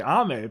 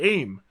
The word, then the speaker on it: Ame: I thought it was called AIM.